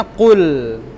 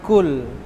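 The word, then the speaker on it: قل: Ini hurufnya K. Ini hurufnya Qa. Kalau baris bawah Ki. Ini Qi. Qi ya kan? Kalau ini Ku. Ini Qu. Jadi ini bacanya qul, bukan kul, tapi qul. Qul, kul. Kalau dengan qaf kedengarannya qul, tapi kalau dengan kaf kul.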